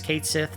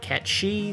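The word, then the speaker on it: Cait Sith: to come out and officially say that the pronunciation of that is Kate Sith not catch she so sorry people who of either Scottish or Irish descent who think it should be pronounced correctly Square Enix says nah we're almost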